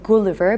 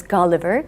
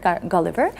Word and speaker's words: Gulliver: here that uh in georgia we usually say gulliver but the correct pronunciation of this name is gulliver gulliver and we had lily pushes laputans and uh